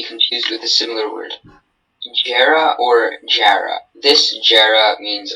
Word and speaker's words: Jarrah: The train ride through the national park went through a forest of Jarrah trees. This word is a noun. Are there any alternate pronunciations? This word is Jara or Jara.